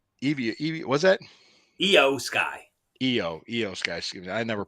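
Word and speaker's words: IYO SKY: Io Sky? Excuse me. I never pronounce her That name I right. is pronounced with the E sound for some reason.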